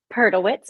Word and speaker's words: Perdelwitz: it's not just you the the correct pronunciation of your last name peritz but I will answer